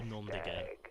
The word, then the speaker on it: noms de guerre: And you wouldn't pronounce the S there, just be nom de guerre.